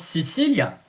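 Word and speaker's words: Sicile: What about Sicilia?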